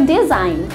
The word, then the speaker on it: design: biasanya I like your design. Jadi, bukan I like your design, kayak gitu. Jadi, G-nya itu silent. Tidak perlu diucapkan, tidak perlu dibunyikan.